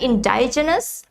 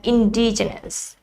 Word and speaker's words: indigenous: let's spell it together not indigenous but indigenous it's i n d i